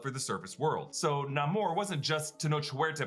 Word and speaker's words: Namor: To fulfill his mother's dying wish, young Namor returns to the land where he finds a slave plantation and a priest says, "Thou art a demon, son of Satan."